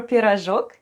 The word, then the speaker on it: пирожок: If we bake it small, we call it a baby pie or пирожок, and then we make a basket full of them.